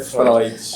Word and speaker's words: Freud: o outro ponto é Freud ou Freud a pronúncia é Freud é o nome que vem do Alemão então escreve-se freio teu mas a promessa é Fróes essa psicologia tem vários